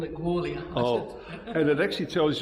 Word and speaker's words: Gwalia: All right, well, the locals call it Gwalia. Oh, and it actually tells you on the wall how you should pronounce it, so I'm sorry about that.